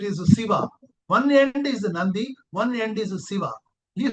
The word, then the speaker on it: Nadi: One is na n a di it is not called nadi. It is called Nandi. They pronounce it as Nandi but spelling is N A DI Nadi.